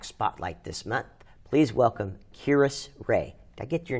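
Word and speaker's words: Kiris: our other pack spotlight this month please welcome kirus ray did i get your name right yes i'm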